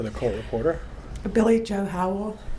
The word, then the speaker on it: Howell: spell it for the court reporter Billy Joe Howell it's Billy B I L L I E Joe j o howl h o w e l l and you